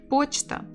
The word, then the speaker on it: почта: Почта. The stress here. Почта. Почта. 2 syllables. Stress on the first.